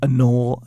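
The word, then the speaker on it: anole: them we call them chameleons but they're like anol anol a n o l e that's how you spend spell it they turn green or brown or whatever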